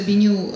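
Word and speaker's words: Benu: Интересный факт, что вот беню, как вы видите на слайде, то, что пишется беню, читается беню, то есть быть новым в таком звучании английском, но также это it's the ancient Egyptian phoenix.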